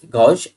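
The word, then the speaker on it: gauche: मतलब क्या हुआ, गौश, इसको गौश पढ़ते हैं, GOSH, ये प्रोनाउंसिएशन इसका गौश।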